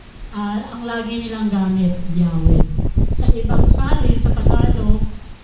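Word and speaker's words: Yahweh: the children of Israel it is pronounced Uh natural yahwe or yahuah yah yaha o '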